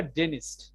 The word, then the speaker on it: dentist: How often do you ডেন্টিস্টের ক্ষেত্রে উচ্চারণটা হবে ডেনিস্ট, ঠিক আছে?